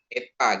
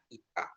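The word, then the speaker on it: Ήτα: Jadi ingat ITA ini I bukan E gitu ya. Memang dalam umumnya di kita itu ETA gitu sebutnya ya, tapi bacanya ITA.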